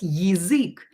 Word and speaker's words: язык: You should memorize that in язык we write it with ya. Язык. But we will pronounce it as язык because ya is not stressed.